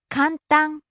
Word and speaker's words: 簡単: 安い、 Next, 簡単、 easy, simple. かんたん、簡単、 Rising on the second syllable and staying high.